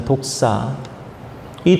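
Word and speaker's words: δόξα: 주님으로부터 왔음을 나타내는 삶인거죠 영광이라는 말은 헬라어 원문으로 독사라고 읽습니다 독사이 독사의 뜻은 장엄 탁월 존귀 품격 이런 의미를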